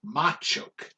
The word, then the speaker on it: Machoke: you say ma chop machoke it's machoke because it's macho get it i got